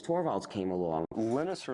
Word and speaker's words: Linus: And that's when Linus Torvalds came along. Linus or Linus? What's your preferred pronunciation? When I speak Swedish, it's Linus. When I speak Finnish, it's Linus. When I speak English, it's Linus.